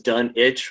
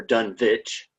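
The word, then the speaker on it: Dunwich: So you know uh there are other variations done it or done vitch. Um the movie that came out they pronounced as done witch was done in the 70s and there are a lot of people who like were arguing over this and um and they pointed to like Greenwich you know saying that you know you pronounce it not green witch.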